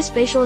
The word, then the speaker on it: spatial: has a longer sound so it rhymes with facial glacial Etc the reason why spatial is pronounced the way